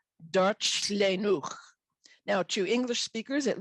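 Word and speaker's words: Darllenwch: It's pronounced something like Darchlenwch.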